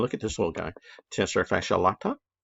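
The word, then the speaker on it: tensor fasciae latae: at this little guy tester fascia latta sounds like a cup of coffee at starbucks and it's flowing into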